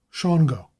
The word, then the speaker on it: Shawangunk: White said that in his youth the name of the Shawangunk Mountains in New York was pronounced Shango, but that the custom of pronouncing it as spelled had arisen during his manhood.